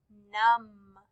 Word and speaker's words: numb: m b the word num say the word num it has m b at the end but we only hear the m sound so the vet is